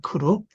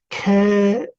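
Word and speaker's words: כְּרוּב: 그룹이라고 하면 그룹. 예, 이게 너무 짧으니까 이제 발음만 천천히 발음하면요. 캐룹, 예, 캐룹 이렇게 되죠. 빨리 하니까 그룹 이렇게 발음합니다.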